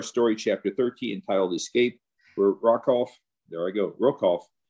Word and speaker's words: Rokoff: is cough r-o-k-o-f-f and if i say rock off please forgive me uh that's the way i pronounced the name when i was quite young i first read this and old habits sometimes a hard part to bypass but rokoff is our